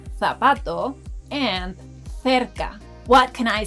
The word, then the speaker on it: cerca: Did you notice that letter C has two different pronunciations in the last word? Well, that's because when letter C appears in front of vowels A, O, U, it sounds like letter K in English.